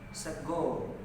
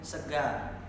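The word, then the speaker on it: sega: Okay, the main difference is that the phoneme a, remains pronounced a or yeah, instead of o. Yeah, so if people eat in Solo, yeah, it's called sago.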